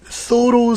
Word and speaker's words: thorough: 여러분, 철저히 완전히 그럴 때는 thorough 쓰고요. thoroughly 이렇게 하시면 돼요. 이거 through 아니에요. thorough입니다. thorough.